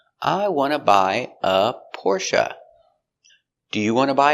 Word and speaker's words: Porsche: And our first car is Porsche. The correct pronunciation for this word is Porsche, but a lot of people in the United States say Porsche.